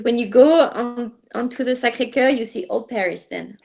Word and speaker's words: Sacré-Cœur: How do you pronounce it? Sacré-Cœur. Sacré-Cœur.